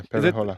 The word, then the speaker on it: PePeHola: Yeah, PePeHola.